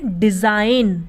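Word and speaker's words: design: आई जी एन डिज़ाइन तो डिज़ाइन में भी जी के बाद क्या ए रहा है एन ए रहा है इसलिए यहां पर भी जी क्या है साइलेंट बिरयानी की वह नहीं बोलते हैं उसी तरीके से रिजाइन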